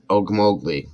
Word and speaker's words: Okmulgee: I was going to say the way you say the city name is Okmulgee. Okmulgee.